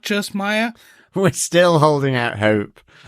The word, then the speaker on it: Maya: this comes from is obviously her name is pronounced Maya in the show uh in I have a